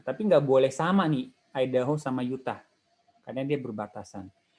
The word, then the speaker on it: Idaho: Nah, ini bacanya gimana? Idaho atau Idaho? Gue juga nggak tahu. Kalau Idaho, Pak.